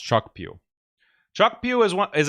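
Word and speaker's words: Kyaukphyu: port located at uh Chuck Pew. I think it's pronounced Chuck Pew.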